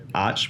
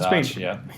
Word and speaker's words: Arch: You've gotten to ride Britain, RC30s, Keanu Reeves Arch. I'm going to say Arch or Arc. I'm going to say it wrong either way. No, it's Arch, What's been one of the things that just stands out?